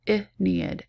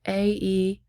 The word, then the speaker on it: Aeneid: The statue group of Laocoon and his sons shows a scene from Virgil's Aeneid. So that's how you pronounce that, Aeneid, Aeneid.